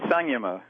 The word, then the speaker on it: samyama: I think in India they say Samyama. But I follow the English letters. I'm not a Sanskrit scholar, so I go with Samyama.